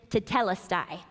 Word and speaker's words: tetelestai: There is a Greek translation for it is finished, and the word is tetelestai. I wanted to make sure that I pronounced that correctly.